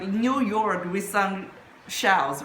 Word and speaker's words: 由: Now the second character it's like this and if in simplified character it's like this and it pronounce as yo yo means by.